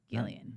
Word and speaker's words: Gillian: Gillian.